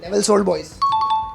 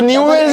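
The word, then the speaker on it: Newell's Old Boys: नेवल्स ओल्ड बॉयज। Spelling? हाँ तो न्यू वेल्स है, वो गलत बोला। ये सही बोला।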